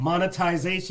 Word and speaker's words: monetization: no it's a stop you said it wrong no no no say it monetization monetization you said monetization oh I did didn't I forgot the T in there so anyway how they